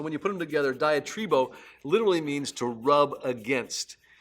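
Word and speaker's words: διατρίβω: spend time is actually a Greek word that's pronounced diet rebo and it's like this composite word diet riba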